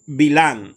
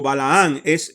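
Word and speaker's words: בלעם: El nombre hebreo de Bilán o Balaán en hebreo es Bilán. En hebreo es Bilán, ¿ok? En la traducción al español pusieron Balaán, pero su nombre original es Bilán, ¿ok?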